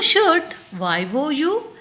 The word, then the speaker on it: should: You should SHOULD should. See children, here L is silent.